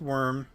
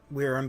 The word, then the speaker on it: wyrm: I know it's pronounced worm. I grew up calling it Wyrm because someone told me that was how it was said.